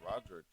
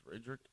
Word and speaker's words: Radric: I thought it was Roderick. It's Radrick. I don't know. Spelled the same.